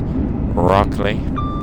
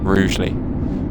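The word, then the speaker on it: Rugeley: This is Rugley or Rouely rather. Rouely Trent Valley. I think it should be pronounced Rugly personally. You know, say it how it's spelled. Rugly.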